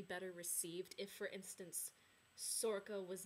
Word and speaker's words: Sorcha: So like you'll come across like Niav, which is Leodon's sister, and then Sorka's pronounced Sorka, not Sorcha or whatever, because that's how I used to pronounce it too.